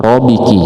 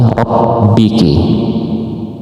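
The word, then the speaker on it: رَبِّكِ: Nah, ini juga harus ditekan dikit karena ada tasdid. Enggak boleh riki, tapi rabbiki.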